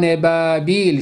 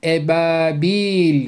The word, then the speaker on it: ebabil: burayı telaffuz ediyoruz dayran Ebabil derken de Ran ifadesinden sonra Elif harfini birbirinden ayırıyoruz Day Nebil şeklinde yanlış bir telaffuzda okumuyoruz dayran Ebabil şeklinde okuyoruz Ebabil derken ba harfini de hafifçe uzatıyoruz ve lam harfini birbirine bitiştiği